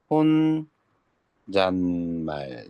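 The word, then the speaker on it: 혼잣말: 혼 잔말 요렇게 발음이 되죠.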